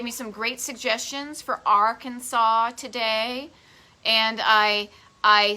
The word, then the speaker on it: Arkansas: or not but that you could get a fine if you mispronounce arkansas like kansas arkansas which is how my brain pronounces it when i read it but it's arkansas it's it's based on an indian name um so yeah so